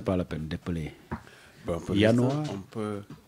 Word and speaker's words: Januar: Bon, Januar, Januar, c'est J-A-N-U-A-R. Januar, J-A-N-U-A-R. On appelle que le J allemand se prononce comme un I, comme dans noyau, bien comme dans boy.